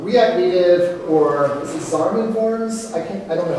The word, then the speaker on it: Xamarin: So, what makes Flutter different from React Native or is it Xamarin Forms? I don't know how to pronounce it. Xamarin, thank you.